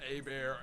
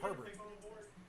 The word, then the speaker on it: Herbert: So I made the call, went with the young guy, Justin Abear, and he rocked out. They don't pronounce it like that over there. What do you mean? They should. They call it Herbert.